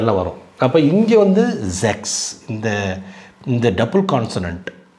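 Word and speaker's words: sechs: ஜெக்ஸ் ஆறு செக்ஸ்ன்னா ஆறு இங்க பாருங்க இக்னு சவுண்ட் வருது பார்த்தீங்களா ஏற்கனவே சொன்னேன்ல இதுக்கு எத்தனை சவுண்ட் இருக்கு இக் இருக்கு இக் இருக்கு மத்த இடத்துல இச் கூட வரும் அது மாதிரி இந்த சிச் எஸ் சே ரெண்டுக்கு இவ்வளவு சவுண்ட் இருக்கு இங்க வந்து இக்னு வருது ஜெக்ஸ் இக்னு வருது சில இடத்துல மாகன் ஹ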